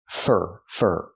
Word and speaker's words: for: Pronunciation, fur. The word for is not stressed here, so we don't say for, we say fur, using the sound like burger.